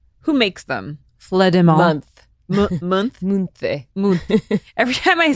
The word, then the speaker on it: Munthe: Munthe. Every time I say like a brand name or something, Olivia's like, no. It's pronounced, the H is silent, the G is